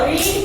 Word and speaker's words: read: देखो रीड का past tense रीड ही होता है, पर बोलते हैं रेड।